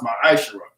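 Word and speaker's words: מַעֲשֵׂר: Means 10th in Hebrew and is pronounced ma'ashera.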